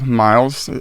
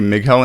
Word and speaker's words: Mighell: how they they possi it's a Welsh name and it was at